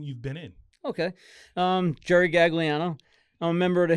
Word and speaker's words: Gagliano: Because you said, I was saying Gagliano, right? But you were saying that we dropped the G. The old school Italians dropped the G. So how do you say it? Gagliano. Gagliano.